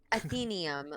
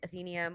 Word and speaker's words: Athenaeum: Athenaeum, like Athena.